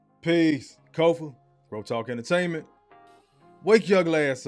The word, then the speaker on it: Kofa: Once again, I am your humble host, Kofa. K-O-F-A, not coffee, not Kufu, not Kofi, or any variation thereof. Kofa rhymes with sofa. Easy to say, easy to spell.